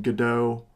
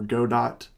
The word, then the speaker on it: Godot: going to be using Godot or Godot engine I've heard it pronounced both ways 3.2 is what a